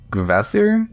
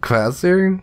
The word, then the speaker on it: Kvasir: how it relates to I think it's pronounced as gasier quasir gasier it starts with the K but it's it's like vaser classier and this guy was born